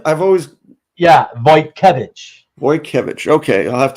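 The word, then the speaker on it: Wojtkiewicz: how you say his name I've always yeah voy kevich voy kevich okay I'll have to remember that because I always said vetki or something like that I was like I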